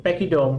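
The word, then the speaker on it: pachyderm: जो यहाँ पे ना ये सी एच का जो साउंड है वो क साउंड है, हाँ जी, पैकीडर्म, बोलो, एक फिर से बोलो, कहो, फिर से कहो, कहते रहो, ठीक है, पैकीडर्म।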